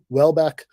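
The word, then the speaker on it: Houellebecq: them was for me Michelle Hill uh Welbeck uh is how you pronounce that dude's name uh I think I'm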